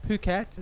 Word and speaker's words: Phuket: So it's pronounced Phuket, not the other way, as some people do see it, which causes quite a lot of confusion when yeah, not in the bad way.